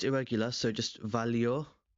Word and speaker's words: valió: In the present tense, it's not irregular, so just valió, with the accent on the O, valió la pena.